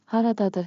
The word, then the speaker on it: haradadır: Haradadır harita. Pronunciation beat. Clap with me. Rhythm makes memory sticky. Ha ra da dur. Ta ta ta ta.